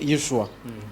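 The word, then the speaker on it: ישוע: Jésus est sa prononciation français. Mais hébreu, bango bazo prononcer Yeshua.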